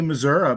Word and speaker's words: Missouri: i mean i i'm i would say missouri because that's how it's pronounced there the show me state